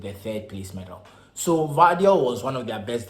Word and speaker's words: Gvardiol: Croatian International yoshiko value yes that's how it's pronounced I know it's about gabadio the latest and quite what they seem to be but it's yoshiko vadio so the 21 Croatian